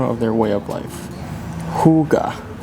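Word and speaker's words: hygge: say like all right so definitely not high gee not like hi translates to a sense of comfort togetherness and well-being you know Huga when you feel it almost okay I think I'm Feeling High Gee right now it's Huga not it's hyga all right get it correct okay it's pronounce hookah yeah but it seems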